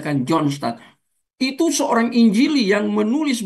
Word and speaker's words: John Stott: Tulisannya kan John Stott. dua kata, bacanya kan John Stott.